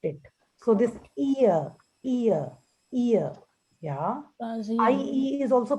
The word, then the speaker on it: rasieren: A is pronounced as A and I is pronounced as E. E. So Razieren.